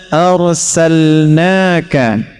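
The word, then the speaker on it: أرسلنا: Wama arsalnaka illa rahmatan lilin. Wama arsalna. Kita bahas pakai nanya dulu. Jika ada dalam Al-Qur'an kata kerja, kalimat ayat yang diselipkan menggunakan na, bacanya panjang. Wama arsalna inna khalaqna.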